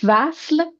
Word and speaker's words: وصل: Vasl, in this word, we start with V, consonant of V. So here we don't see long vowel of U. It's not a vowel, it's a consonant.